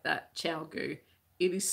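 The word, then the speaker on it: ChiaoGoo: It's definitely said like that, Chowgu. It is spelt, and I can never remember.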